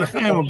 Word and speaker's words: L'chaim: L'chaim, bracha. Chaim. How do you say it? L'chaim. L'chaim. Say it again. Yeah. Get the chet. The chet. Talk that way.